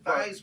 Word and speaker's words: Theismann: Yeah, when he was when Joe was at Notre Dame, he changed the pronunciation to Theismann. For Heisman. To rhyme with Heisman.